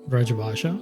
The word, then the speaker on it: Braj Bhasha: The use of Braj Bhasha, is that how you say it? Braj Bhasha?